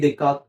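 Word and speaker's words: Descartes: आहे त्याच जे जनरली फ्रेंच लँंग्वेज असल्यामुळे प्रोनाउन्सशन वेगवेगळी असतात रेने देकात हा त्याच करेक्ट प्रोनन्सशन आहे.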